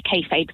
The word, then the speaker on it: kayfabe: I wanted to give you a call to have a chat about kayfabe. Marvellous. And that is the correct way to pronounce it.